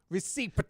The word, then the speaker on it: receipt: See, Receipt. Well, if we were to pronounce half of the words the Yes.